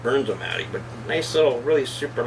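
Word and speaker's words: Bernzomatic: So that is the, I think it's a Bernz-O-Matic. I think that's how you pronounce it, Bernz-O-Matic.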